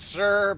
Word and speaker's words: Yixer: Yeah, it's spelled Yixer, but he kind of pronounces it Sir, but, whatever.